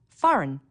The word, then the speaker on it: foreign: Foreign, a G that you don't hear.